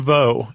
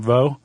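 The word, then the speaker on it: Veaux: Franklin Vo is how I'm pronouncing his last name. Vo V a U.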